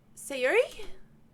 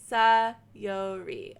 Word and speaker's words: Sayori: Sayuri?